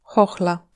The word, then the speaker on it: chochla: À part ça, H et CH se prononcent exactement de la même façon, Herb, blason, chochla.